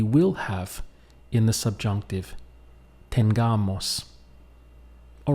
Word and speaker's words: tengamos: it becomes tengamos now be careful that you don't say Tenga Moss because tengamos does not exist in Spanish and if you emphasize it or pronounce the word in that way you will not be understood so it must be Moss tengamos so this will stand